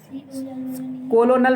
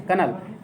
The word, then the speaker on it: colonel: कोलोनल पढ़ोगे तो आप याद नहीं हो जाएगा, कर्नल हिंदी में कर्नल कहते हैं। क्लियर। COLONEL, COLON, इसमें यल साइलेंट होता है, कर्नल इसका शुद्ध उच्चारण है, कर्नल।